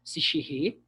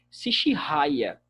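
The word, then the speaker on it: Sechehaye: Os editores têm aí os nomes para vocês, Charles Ball e Albert Sichiré. Algumas pessoas chamam de Sichiraya. Vocês podem ouvir até mesmo outra pronúncia.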